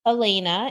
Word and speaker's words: Alena: you know I should have asked as well Elena is that correct pronunciation perfect um it's so nice to have